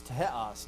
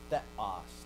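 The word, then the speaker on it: θεός: In the time of Christ, it was taha. It was teos, not theos. Teos. It was an alveolar aspirate.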